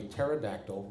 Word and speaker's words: pterodactyl: can't you hear a pterodactyl going to the bathroom the p is silent that's right for more